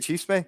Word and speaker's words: chisme: Is that how you say it, chisme? Yeah, you look at you.